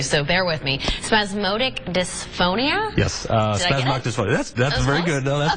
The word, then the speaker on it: spasmodic dysphonia: voice disorder I don't know if I'm gonna pronounce this correctly so bear with me spasmodic dysphonia yes that's very good that's very good that